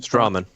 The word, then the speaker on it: Stroman: How do you say it? I'm saying Strawman. Yeah, Stroman. you're right.